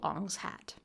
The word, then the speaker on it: Ong's Hat: New Jersey there is a real place called On's hat On's hat yes spelled om n pronounced like M like shamalan uh [ __